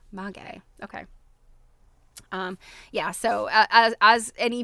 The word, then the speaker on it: maguey: Oh, I love a pronunciation. I like to not have to guess because I'm always guessing wrong. Maguey.